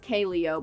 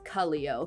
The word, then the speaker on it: Kaleo: At first I thought it was pronounced Kaleo, but I looked up how to pronounce it and apparently it's Kaleo.